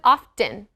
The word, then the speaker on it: often: i love his voice he said often what don't pronounce the t and often oh he